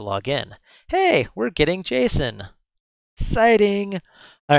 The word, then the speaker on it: JSON: an array of stuff how do you say it I said Jason what do you call it JSON well how would you say it David it's like my good friend Jason all right so uh